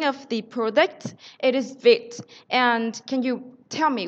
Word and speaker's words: Vite: Before I joined the company, I also thought it was VITE. It's actually VITE. It stands for fast in French.